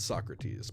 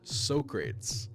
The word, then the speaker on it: Socrates: I had read Socrates, but I had never pronounced his name, so I said Socrates, because that's the way I had always assumed it was pronounced. There was a moment's silence before I heard someone whisper, Socrates.